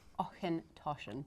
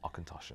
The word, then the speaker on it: Auchentoshan: yeah, Auchentoshan. Auchentoshan.